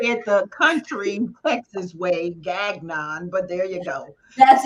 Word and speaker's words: Gagnon: tell people it was genyon which right you know sort of like mignon they could get that nobody could get it so now it's just plain old Gagnon Robin oh yeah I